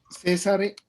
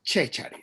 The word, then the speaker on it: Cesare: César Lombroso. En realidad se llama Cesare Lombroso. Así es que se pronuncia el nombre.